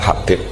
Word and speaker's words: Habib: Itu di harakatnya kitab itu ada yang nulis Hubab. Yang benar Oh, nggih. Yang benar itu bacanya Habib.